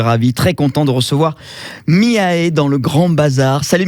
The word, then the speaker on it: Miaé: Bon, Miae, ça s'écrit M-I-A-E.